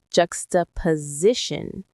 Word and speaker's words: juxtaposition: Jux, ta, po, si, shun. There are 5 syllables. The main stress is on the C part near the end. Juxtaposition.